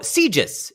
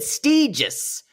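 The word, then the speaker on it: Sitges: guess we're drinking um how do you pronounce it oh sieges yeah sieges the town Barcelona it's very very gay uh that's what you always see anyway what's it called sieges no you said stages go to the tape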